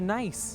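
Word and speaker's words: gneiss: like rock for me it's actually pronounced nice yeah like n-i-c-e it is a metamorphic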